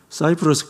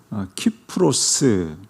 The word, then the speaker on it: 키프로스: 사이프러스 꽁하고 키프로스 키프로스가 좀 더 그 원어에 가까운 그런 말이 되겠습니다. 영어 발음으로 사이프러스 그렇게 하는데요.